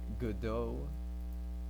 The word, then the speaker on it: Godot: So right now I haven't updated the version because I'm lazy, but yeah, it's gonna be made in Godot and or Godot as people like to pronounce it.